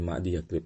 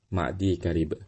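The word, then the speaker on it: معديكرب: Perhatian ya, sebagian para pemula itu seringkali salah dalam mengucapkan Ma'di Karib karena menempelnya ya dengan kaf, maka ia menambahkan ya dan ia katakan Ma'di Yakrib. Jadi dibacanya bukannya Ma'di Karib menjadi Ma'di Yakrib. Salah ya kalau kita bacanya Ma'di Karib, yang benar Ma'di Karib ya.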